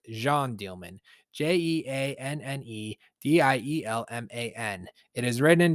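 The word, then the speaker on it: Jeanne Dielman: From the looks of it, it's spelled Jean Dielman, but it's pronounced Jean Dielman.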